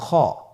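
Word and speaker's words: خ: খ হরফটির মাখরাজ হলো কন্ঠনালীর শেষ ভাগ হতে উচ্চারণ করতে হয়।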